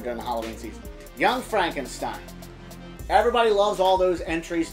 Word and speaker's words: Frankenstein: as the monster oh God Young Frankenstein it's pronounced Frankenstein um I love the putting on the red